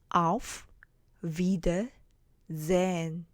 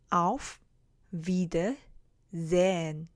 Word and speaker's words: auf Wiedersehen: 여기서는 wieder 해서 장모음으로 발음이 나게 되고요.